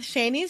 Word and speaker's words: Shani: we are here with shanie silver she is an author and podcaster originally from Fort Worth Texas and her name is pronounced like Rainey with a sh and I'm adding that